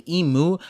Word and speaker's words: Imu: Now I know we often say Imu, but that's because there isn't a katakana symbol for just M, and katakana focuses on translating syllables from foreign words to show how it's pronounced in Japanese.